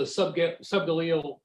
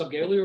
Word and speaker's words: subgaleal: And then, you said that the subgaleal, do you pronounce it subgaleal or subgaleal? People pronounce it both ways.